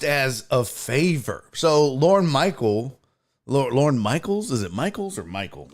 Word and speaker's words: Michaels: So Lorne Michaels, is it Michaels or Michael? Lorne Michaels. That's not how you spell it.